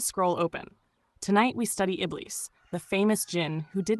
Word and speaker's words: Iblīs: Pronounced Iblīs, not genie in a lamp, not 3 wishes with a gold bracelet and questionable customer service.